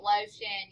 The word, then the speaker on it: lotion: yes i have the final stable syllable shun like in great lotion yes and this word